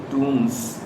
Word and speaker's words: tombs: We leave the bus and walk up towards the tombs. Again, this is TOMBS, but I am pronouncing it tomb.